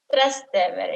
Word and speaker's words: Trastevere: of this podcast, you know that I can't pronounce things. But I will try. True. Trastevere. Trastevere. It's Trastevere.